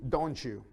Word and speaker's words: don't you: Notice the pronunciation is like a ch sound. Normally with the don't you, it's, I don't know, it just comes out this way. You like coffee, don't you?